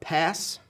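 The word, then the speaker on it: PaaS: recognize sas s-a-a-s uh pass i guess you say it like that p p a a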